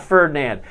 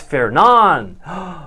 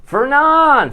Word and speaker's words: Fernand: Of course, it's not Ferdinand. It's Fernan. Fernan. Fair. Like a county fair. Fair is the actual correct pronunciation.